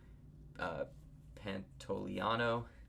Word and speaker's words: Pantoliano: Joe Pantoliano, that's how you say his name.